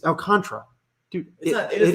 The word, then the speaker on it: Alcantara: so you're just saying you don't pronounce the last a it's al contra dude it does not